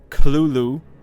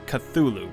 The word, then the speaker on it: Cthulhu: Lovecraft himself gave several differing pronunciations of the creature's name throughout his life, including Chtulu, with a heavy guttural first syllable. The most common pronunciation, however, is Cthulhu, popularized much later after Lovecraft's death.